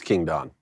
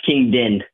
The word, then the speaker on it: King Din: It's King Don. No, it's King Din.